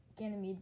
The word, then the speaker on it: Ganymede: decent-sized I mean it's not as big as gaining me but Ganymede but it is decent-sized might also have water